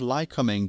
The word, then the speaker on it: Lycoming: The Boomerang is equipped with a pair of Lycoming TIO-360 (Lycoming; lie coming, 360 is pronounced three sixty) 4-cylinder turbocharged engines, each with a slightly different power output—one at 210hp and the other at 200hp.